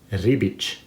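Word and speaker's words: Ribić: you say his name you see the accent on the c say it with me rebic there you go you'll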